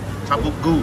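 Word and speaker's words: tavuk göğüs: Tabuk goo. Something like that. It's spelled Tabuk Gogus, but you don't pronounce the middle G.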